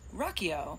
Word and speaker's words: Riakeo: we will Rocko so the brand is pronounced Rocko like we will rock you you know she said